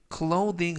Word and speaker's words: clothing: 이때 clothing 하면 의류라는 뜻이 되겠고요. 이때 th 발음은 번데기 발음이 아니라 돼지꼬리 발음 the. 그래서 clothing이라고 발음하시면 좋겠습니다.